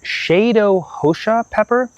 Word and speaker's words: Cheiro Roxa: mess up this pronunciation, Cheiro Roxa pepper. If I were going to be American about it, I would pronounce it Cheiro Roxa, but I've been told that's the proper pronunciation.